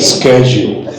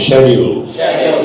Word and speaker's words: schedule: food oh my God so not schedu pronounce it schedule sched schedule SCH semester